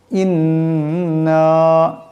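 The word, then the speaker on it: إِنَّا: ইন্না, এখানে লম্বা করবেন।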